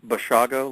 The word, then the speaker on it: Basiago: It's pronounced Basiago, like Chicago. Okay, Basiago.